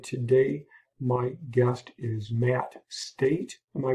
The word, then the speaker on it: Stait: number 15 and today my guest is matt state am i pronouncing that correctly yeah that's right yes thank